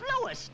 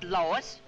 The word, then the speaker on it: Louis: the plant lois lois my name is louis not lois jeff whiz everybody in